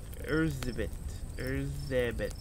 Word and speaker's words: Erzsébet: So her name pretty much, is Elizabeth, but it's pronounced Erzsébet Bathory.